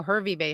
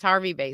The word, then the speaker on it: Hervey Bay: I drive Harvey Bay oh hervey bay Harvey Bay pronounced Harvey Bay sorry Graham not from Australia obviously um yes I did contact